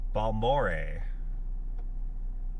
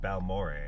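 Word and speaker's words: Balmorhea: Balore. First syllable rhymes with the first syllable of Albert. Al what? Oh, Bal. I see. Bal Mor didn't even have to ask.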